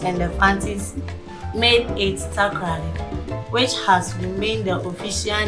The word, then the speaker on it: Takoradi: form takrasi which then became takras a local pronunciation and later before eating honey the British and the panties made it takoradi which has remained the official name so today